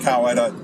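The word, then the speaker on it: Coweta: Um, man Massie, I hope it's pronounced Kawetta.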